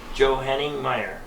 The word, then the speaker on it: Johanningmeier: Johanningmeier.